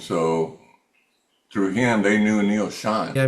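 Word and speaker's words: Neal Schon: When you went to the Bay Area, tell that Neil Schon story.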